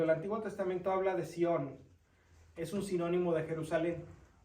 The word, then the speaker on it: Sión: S-I-O-N, con acento en la O. Sión.